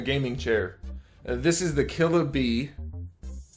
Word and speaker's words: Killabee: This is the Killabee. It's spelled the way it sounds, Killabee 8257.